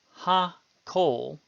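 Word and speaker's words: הַכֹּל: Similarly, ha-kol is a two-syllable word, ha-kol.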